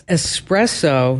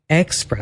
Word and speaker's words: espresso: It's espresso, not espresso.